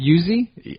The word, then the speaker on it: Uxue: Is it Uzi? I think so. I'm going to go with that. It's UXUE.